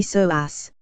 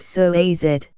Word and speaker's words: psoas: makes up the iliopsoas it's often called the mighty so ass pronounced so a Zed for the many important